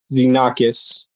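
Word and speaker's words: Xenakis: It's uh Zenakis. It's spelled X E N A K I Sakis meaning stranger or newcomer.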